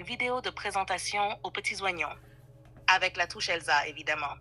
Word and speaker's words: oignon: Tu as dit oneignon alors que c'est oignon. Le i ne se prononce pas.